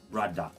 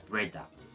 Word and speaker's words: brada: Instead of brother, it would be pronounced brada or breda in certain cases.